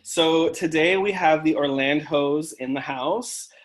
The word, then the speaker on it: Orlandhos: today we have the orlandos in the house like orland hose am i saying it right yes yes you are most people are drawing